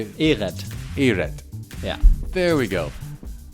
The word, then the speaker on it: Ehret: Ehret.